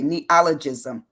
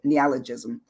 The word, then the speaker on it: neologism: ne ne ne neologism it's hard to say neologism that's how you say it neologism and it says it's